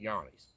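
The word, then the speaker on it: Johne's disease: Spelled John's disease, pronounce it Yanni's.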